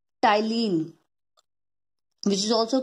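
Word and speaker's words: ptyalin: which is also called tylene which is also called tylene here p p word p alphabet is silent sudden so it is called the tylene celebrity and amylase is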